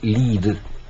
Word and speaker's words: Lied: Este Lied se escribe L-I-E-D, Lied, pero se pronuncia Lied.